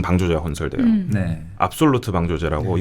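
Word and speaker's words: Afsluitdijk: 큰 방조제가 건설 돼요네 압솔루트 방조제 아고 이것도 발음이 이제 현지 발음이랑 좀 다릅니다 네네 우리나라에서 현지 발음을 한번 해 주시죠 압스 라이트 아 이거 조 조금 다릅니다 제가 네덜란드를 잘 못해서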